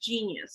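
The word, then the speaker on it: GeneYus: kids sense this is genius that's how you pronounce that genius so it's to help Minds focus and concentrate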